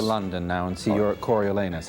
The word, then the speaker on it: Coriolanus: now and see your Coriolanus. How do you do. pronounce the play? Coriolanus. I think. Coriolanus. He's the hero of Corioli. All right. He's named after the place Coriolanus.